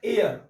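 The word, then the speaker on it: heir: इसको पढ़ते हैं एयर। अब एयर बोले तो उच्चारण देखिए तो बाबू, एच क्या है इसमें, साइलेंट है, एयर।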